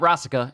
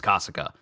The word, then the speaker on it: Kasa: got was from Kasa it's not rasa it's Kasa item kasa's Venom Fang